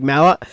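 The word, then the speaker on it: Malott: who's taking on Mike malot malot not Mallet apparently Mike Mallot I'll try to pronounce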